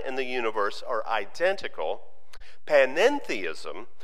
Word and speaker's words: panentheistic: to use the term panentheistic it's a very similar word but that one two-letter syllable makes quite a difference while pantheism maintains that the the divine and the universe are identical panning theism says the divine and